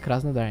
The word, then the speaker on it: Krasnodar: Pode repetir a pronúncia. Krasnodar, é isso?